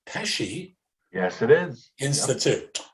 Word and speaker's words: Pesci: Plus, he mentors students from William Patterson University's, I believe that would be pronounced Pesci. Yes, it is. Institute, yep. Like Joe Pesci.